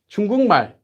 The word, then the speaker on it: 중국말: 중국말. You can't say 중국말, because that would be adding in a syllable that's not there, or it would be adding in a break in your speech.